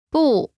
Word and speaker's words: 不: 不是 Pronunciation note: when 不 is followed by a fourth tone, its tone changes from the fourth tone to the second tone.